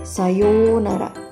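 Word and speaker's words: さようなら: waktu yang cukup lama pengucapan untuk ou dibaca panjang menjadi UU Sayonara menjadi sayounara Sayonara Ayo kita ucapkan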